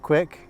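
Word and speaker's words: Quik: recent footage just make sure that you download quick which is also made by GoPro and it's spelled q UI k the go prop will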